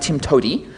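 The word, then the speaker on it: TIMTOWTDI: way to do it which is pronounced Tim to um I'm going to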